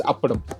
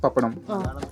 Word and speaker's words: appadam: In our language it's appadam. Apparam. You can say it papadam. It's both. It's the same.